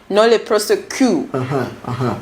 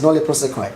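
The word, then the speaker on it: nolle prosequi: would say nole prosequi, others say nole prosecu. So what is this about tomato? Yeah, so, so these are foreign words. Yeah. That we all get to learn. And pronunciations vary. What is your pronunciation? Okay, my pronunciation is nole prosequi. Oh, great. That is how I pronounce it.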